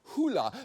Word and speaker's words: Hole: Apparently, it's based on a Norwegian series of novels, and it's supposed to be pronounced Hoola, but respectfully, no Norway, it's pronounced whole.